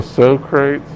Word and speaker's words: Socrates: Oh, so Socrates. Yeah. He's the only one. Okay. Yeah. I just call them so crates.